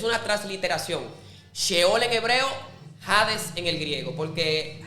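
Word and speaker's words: ᾅδης: Sheol en hebreo, jades en el griego, porque jades en el griego se pronuncia como una J, pero es muy curioso porque la letra J se inventó en el en el 1500.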